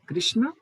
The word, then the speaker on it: कृष्ण: सो it will be कृष्ण, यस है ना? सर। तो कृष्णा बुलाते हैं अंग्रेजी वाले, but that's not the correct pronunciation. ठीक है कृष्ण।